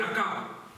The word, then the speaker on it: Achab: c'est la même chose parce que la prononciation grecque ch on le connaît c'est k et en français ch on le dit chat vous pouvez dire à chat ou à k peu importe all mes frères et sœurs mais moi je pense voirci la prononciation grecque akab la Bible nous montre